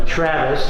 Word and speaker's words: travois: And one of the most important things, if you just look over here, is that's a Travis, it's called, spelled like travois.